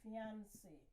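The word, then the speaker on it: fiancée: different meanings look at words like fiance fiance and fiancee same pronunciation different spelling different meaning so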